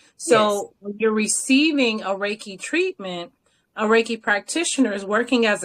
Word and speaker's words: reiki: into that universal life force energy so raiki Ray key the if you break that down in Japanese it's Universal energy like or Chi or key right so you're receiving a raiki treatment ay practitioners working as a conduit to